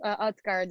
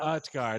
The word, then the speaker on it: Utgaard: Utgaard is the last name though. Utgaard, not Utgaard. But it's okay.